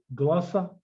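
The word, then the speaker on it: γλῶσσα: say, as in go, glossa, or logos. Glossa, yeah. Glossa. Yeah, that way there, if you want to look at the two different pronunciation of the O's, you'd say that's glossa and logos.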